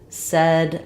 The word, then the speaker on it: said: as well um and be careful with this one you want to differentiate it from the word sad which has the a vowel when I'm saying sad my mouth is more open the front of my tongue is down the back of my tongue is lifted said my mouth is not quite as open and my tongue is a little bit flatter generally for that F